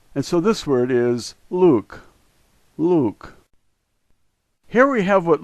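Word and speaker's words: лук: The first letter is L, the second letter U, and we're all familiar with the K sound, and so this word is Luke, Luke.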